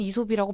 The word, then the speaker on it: 이솝: 이게 스펠링이 A이잖아요. 그러니까 맞아요. 에이솝 네. 에이솝해서 에이솝이라고 알고 있다가 어느 순간부터 한국 상호명은 이솝이라고 바뀌었다.